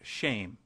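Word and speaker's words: שם: for name which is Shem pronounced shame we might as well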